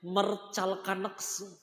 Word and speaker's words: Mertcalkanx: Namanya Mercalkaneks. Ya saya lah susah lah. Gimana itu baca? Ya tulisannya MERTCALKANX. Mercalkaneks. Kan susah bacanya, bingung kan?